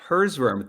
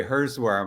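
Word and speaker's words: Herzwurm: compass real estate herzberm thank you how are you today good and you pronounced my last name correctly i know i was nervous about that all day hers worm i love it yup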